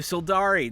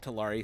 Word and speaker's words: Sildari: And then of course, thank you Sildari, not Talari, Sildari.